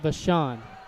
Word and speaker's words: Vashon: Nate Vashon is how you pronounce it.